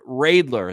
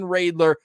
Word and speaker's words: Reidler: All right, Pilsy, great conversation coming up with Kevin Reidler, and that's the pronunciation he gave us. Yes. That's what we're going to ride with. Kevin Reidler, excited to see his upcoming season.